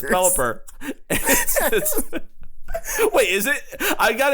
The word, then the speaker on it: Pelipper: They also got the name wrong because it's Red Hot Chili Peppers. It's Pelipper. Wait, is it? I got it. I'm used to Mr. Curtis saying Pelipeppers.